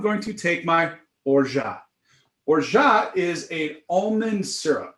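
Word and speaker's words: orgeat: to take my borja orja is a almond syrup it's a sweetener it's uh it's actually spelled like or grit or orgite but the french say or ja they say raja i say rojo now you will say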